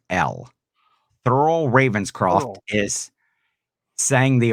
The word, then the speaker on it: Thurl: Thurl, Thurl.